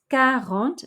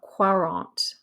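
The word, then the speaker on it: quarante: no hyphens and we have the word a don't do with a hyphen trance transist transet transformers remember it's carrant not quarant so gavrant for forty galvante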